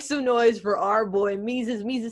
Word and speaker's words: Mesus: SuperDuper talented you know his name rhymes with Jesus but it's not so make some noise for our boy mises means to say what's